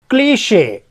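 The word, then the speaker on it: cliché: क्लीशे, यहाँ पे शे पढ़ेंगे।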